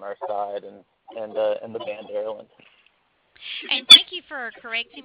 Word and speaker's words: Erland: Well, it is pronounced Erland, and it's actually my first name, and it